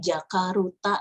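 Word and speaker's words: ジャカルタ: pergi ke Jakarta ini dibacanya sih jakaruta gitu ya Tapi nggak papa sih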